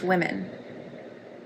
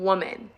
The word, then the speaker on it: women: It's pronounced women.